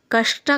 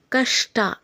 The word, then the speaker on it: ಕಷ್ಟ: ಟಕಾರ ಇದ್ದಾಗ ಷಟ ಆಗುತ್ತೆ ಹಾಗೇನೇ ಕಷ್ಟ ಕೂಡ ಷ ಕಾರಕ್ಕೆ ಟಕಾರ ಇದ್ದಾಗ ಕಷ್ಟ ಷ ಮತ್ತೆ ಟ ಎರಡು ಸರಿಯಾಗಿ ಕೇಳಿಸಬೇಕು ಅದು ಸರಿಯಾದ ಉಚ್ಚಾರಣೆ ಆದ್ರೆ ತುಂಬಾ ಜನ ಹೇಗೆ